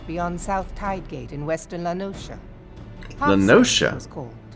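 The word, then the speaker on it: La Noscea: south tidegate in western lanosha lenosha i've been saying it wrong this entire time it's not lanaskia it's la nosha western lenosha i'm going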